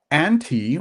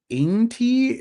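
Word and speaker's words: Ānti: This is a release from a new house called anti or should I say anti because there is a long a symbol or accent above the a.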